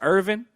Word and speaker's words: Irvine: I don't know if y'all play Final Fantasy VIII, but I'm gonna say his name is Irvin. It's spelled like Irvine.